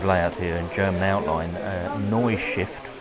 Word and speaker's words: Neustift: There's a layout here in German outline, Neustift, I believe it's pronounced. So Neustift, Neustift.